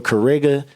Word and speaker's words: Cariga: The X is silent for Kariga.